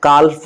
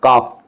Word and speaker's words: calf: तो आप देख सकते हैं यहाँ पर CALF, काल्फ नहीं पढ़ेंगे, इसको प्रोनाउंसिएशन क्या होगा, काफ, काफ, वुल्फ।